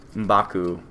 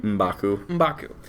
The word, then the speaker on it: M'Baku: They're going to the Jabari tribe to meet M'Baku and give him the heart shaper, the last one.